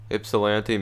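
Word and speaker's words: Ypsilanti: though their best online here we are guys ipsilanti michigan eastern michigan stadium that's where it is learned how to pronounce it that's right we're gonna the coin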